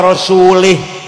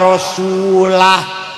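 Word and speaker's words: رسوله: Ada orang baca Quran, wa annallaha bari'um minal musyrikin wa rasulih. Allah tidak melindungi orang musyrik dan tidak melindungi Rasulullah. Salah bacanya itu. Yang benar wa annallaha bari'um minal musyrikin wa rasulah.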